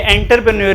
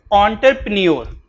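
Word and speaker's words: entrepreneur: Land, labour, capital और अच्छा इसको देख लीजिएगा, इसकी प्रोनाउंसिएशन एंटर नहीं है, ये एंटरप्रेन्योर नहीं है, इसकी प्रोनाउंसिएशन ओ से है, ठीक है। तो ये एन नहीं है, ये असल में ओ है, ऑन्टर। फिर ये जो प्री है ना ये है ही नहीं है, ठीक है। ऑन्टरप्रेन्योर, ये प्री जो है ये आर ये साइलेंट है, ऑन्टरप्रेन्योर, ठीक है।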